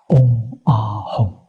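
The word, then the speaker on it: 嗡阿吽: 三个字它的发音叫嗡阿吽。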